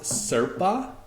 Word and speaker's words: Serpa: So it is pronounced Serpa without the H.